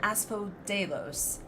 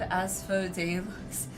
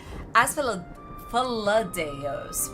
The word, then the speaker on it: Asphodel: I have to try and pron pronounce it like annunciate it because I keep want to go as as fados which isn't quite right cuz I want to say it too fast but all right not talking.